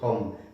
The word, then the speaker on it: Hum: Cuando lo busquen ustedes el nombre, si les interesa, va a estar con H, Hum, pero se pronuncia Hum.